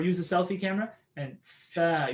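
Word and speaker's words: ث: If you're pronouncing it at home, right, use a mirror or use a selfie camera, and tha, you should be able to see your tongue come out.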